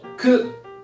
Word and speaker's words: く: 跟着我念，叫做 k k。